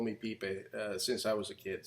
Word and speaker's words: Pipe: In the English language, you know, most people don't know how to read it because they read it like pipe. Right. And as a funny anecdote, most people that call us, it's like they're afraid to pronounce the name as. Yes. So you can hear the person on the other end like being doubtful about pipe. Anyway, it's called PIPE, you know, and that's.